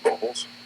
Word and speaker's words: Bobolz: my mother's M dman and your last name bobles bobles bobles very good yeah we go ahead and spell that for the record where well we'll get